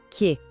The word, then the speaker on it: que: A próxima é que. Atenção aqui que o som é mais fechadinho, mais curto, ó. Que. Não é um que aberto como o nosso, é mais sutil.